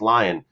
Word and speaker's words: Lyon: and we have uh either leon or lyon alex i think it's alex lyon that's the pronunciation for the philadelphia flyers